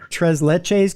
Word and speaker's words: tres leches: It could be, I always thought it was going to be tres leches cake.